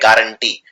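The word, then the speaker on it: guarantee: ये नहीं है स्पेलिंग इसकी, जी के बाद यू लगता है, इसको लिखते हैं गुआरंटी, लेकिन बोलते हैं गारंटी।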